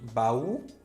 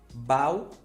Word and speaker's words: baú: O sozinho na sílaba tem que ter acento. E esse acento representa que essa sílaba é a mais forte. Sem acento ficaria como, professor? Bau, grajal e pagel.